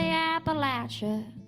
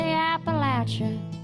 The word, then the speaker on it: Appalachia: 'Cause I love that cool breeze through the poplar trees, looking for those ginseng leaves and the Appalachia that rhymes with how about you.